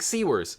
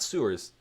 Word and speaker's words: Sewers: Greg Sewers, not Sewers. We're going to pronounce his name right.